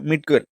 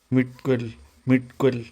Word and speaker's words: midquel: അടുത്ത കാറ്റഗറിയാണ് മിഡ്ക്വൽ. MIDQUEL. പിന്നെ PSC പരീക്ഷയ്ക്ക് പോകില്ല, സ്പെല്ലിംഗ് ഒക്കെ പഠിക്കാൻ. ഒന്ന് പറഞ്ഞേ, മിഡ്ക്വൽ. മിഡ്കൊൽ എന്താടാ ഇവന്റെ ഉച്ചാരണം തീരെ ശരിയല്ല.